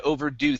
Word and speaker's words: overdo: uh is known to overdo things so our stress is here at the very end known to overdo things we're doing things great